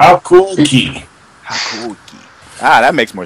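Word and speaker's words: Hakuoki: Hakoki. I'm not even gonna pretend like I heard about this game. I'm not even gonna pretend like I'm pronouncing it right. I'm not. How cool key.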